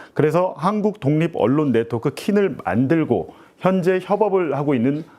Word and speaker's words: KINN: 예, KINN 이 발음이 잘 안 되죠. KINN. 힘든데. 네. 그래서 그냥 킨으로 이제 저희들도 부르고 있습니다.